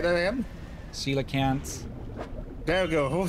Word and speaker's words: coelacanth: Coelacanth. There we go. First you said sea cats. But yeah, that's how you pronounce it.